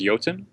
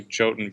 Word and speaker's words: Jotun: we've got it always comes back the actual pronunciation is yatin and in norway it's actually using but we say our i say choten because i don't want people searching for y